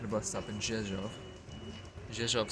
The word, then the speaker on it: Rzeszów: Rzeszów spelled with an R, but there's no R sound in it. Polish, I suppose. Bunch of consonants smushed together somehow.